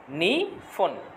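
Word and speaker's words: 二分: এরপরে আছে দেখেন 2 নম্বরের জন্য দেওয়া আছে নি ফোন। নি ফোন, নি ফোন 2 মিনিট। তাহলে 1-এর জন্য পর উচ্চারণ পাইলাম, 2-এর জন্য ফর উচ্চারণ পাইলাম, ইপ্পুন নি ফোন।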